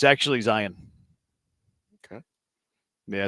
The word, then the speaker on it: Zion: You know, it's not Zion though. It's It's Zion.